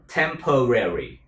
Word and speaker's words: temporary: Tiếng Anh đọc hình như có 3 âm tiết thôi, nhưng tiếng Mỹ là 4 âm tiết các bạn. Temporary.